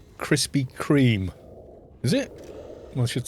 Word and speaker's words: Krispy Kreme: this one's come out a funny shape it's pronounced krispy kreme is it i should spell it properly then